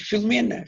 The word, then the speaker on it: Filomena: E a palavra perigo, de facto, nós não pronunciamos perigo, como não pronunciamos Filomena, pronunciamos Filomena, Filomena. A primeira sílaba não se nota quase.